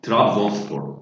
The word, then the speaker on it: Trabzonspor: Trabzonspor. Yeah. Trabzonspor. Okay, let's just do this. Okay, I try to pronounce it, and if you correct me if I'm pronouncing it wrong.